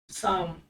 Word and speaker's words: psalm: साम, PSALM, silent है, साम, साम मीन्स भजन।